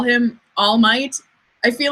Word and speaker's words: All Might: Like his name is Orumaito, not All Might. I know that his name is All Might, and that's just like the Japanese way of pronouncing English words.